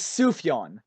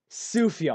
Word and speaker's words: Sufjan: I top only know five albums Sufjan ever.